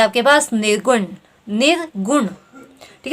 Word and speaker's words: निर्गुण: ठीक है, जब आप इसका उच्चारण कर रहे हैं तो क्या ध्वनि आ रही है आपको? नी, निर्गुण। न पे भी आपका जोर पड़ रहा है और ग पे भी जोर पड़ रहा है। ठीक है, अर्थात यहाँ क्या हो गया? आपके दोनों ही ह्रस्व स्वर होंगे, लघु स्वर होंगे।